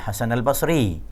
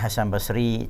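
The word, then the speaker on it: Hasan al-Basri: ucapan kata-kata yang diucapkan dari Hasan al-bashri bukan Hasan Basri tabiin ya ya sampai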